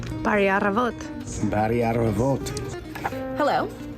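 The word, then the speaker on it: Բարի առավոտ: Bari Aravat. Bari Aravot.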